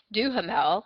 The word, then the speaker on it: Duhamel: The other one, the other star of the show, is Josh Duhamel, I think.